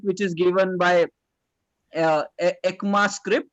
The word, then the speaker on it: ECMAScript: is given by uh ekma script yeah this is how it is pronounced the core versions of